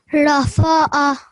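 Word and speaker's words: رفع: Rafa'a. So again, ra, having fatha, ra, fa, ain sound.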